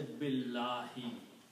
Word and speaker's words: billahi: So when you combine this B with the lam, this alif will not be pronounced.